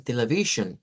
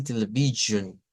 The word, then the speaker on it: television: televisión en inglés y muchos dijeron television les dije fí que no es así se dice televion es este mismo sonido que aparece en la s bueno siguiendo está la